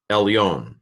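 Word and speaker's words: עֶלְיוֹן: In the portioning, ayin, sagol, lamed, silent shva, because this is a short vowel, a short e here, or an e without a macron on the top, and so el, and that's where it ends. New syllable. Yod, cholam vav, final nun, elyon.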